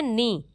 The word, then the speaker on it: know: जैसे हम कहते हैं नो, नो मीन्स जानना, KNOW, जबकि कभी भी किनो नहीं कहेंगे, क्या कहेंगे, NOW, नो। हमेशा ये कहेंगे कि नो, जबकि पूरी मीनिंग क्या है,